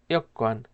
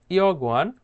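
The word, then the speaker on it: 여권: ইয়ক্কান, খেয়াল করবেন আমি যেভাবে প্রোনাউন্সিয়েশন করছি আপনারা ঠিক সেমভাবে প্রোনাউন্সিয়েশনটা করবেন। এখানে ইয়গওয়ান উচ্চারণ হবে না, এখানে উচ্চারণ করতে হবে ইয়ক্কান।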